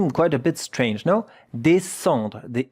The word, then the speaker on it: descendre: It's a difficult word to pronounce because here there is also a nasal vowel, yeah?